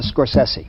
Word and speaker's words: Scorsese: movies I was curious is it scors scorsi or scor sessi so then I went on YouTube and I heard from the man himself how to pronounce his last name pronounce your last name for me uh score sessi sesi right and I said see I wanted to make sure sesi yeah I say uh